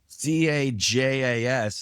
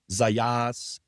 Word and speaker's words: Zajas: His name is Shawn Zajas. Did I say it right? Yes, you did. Zaya. Adrian Lefler. Okay, well, it's Zajas, and it could be pronounced Zayas, Zajas.